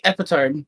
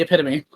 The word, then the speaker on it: epitome: pause psychic what did you just say the epitone the epitome I was about to say did you just